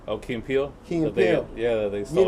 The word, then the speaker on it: Key and Peele: Just like Dave Chappelle, like telling what's his name, those two guys, I'm gonna say it wrong, Keep and Pill or whatever. What's his name? Oh, Key and Peele.